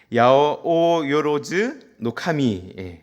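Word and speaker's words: 八百万の神: 야오요로즈 노카미 발음이 어려운데 이 말이 무엇이냐면 800만의 신이 사는 나라라고 하는 뜻입니다.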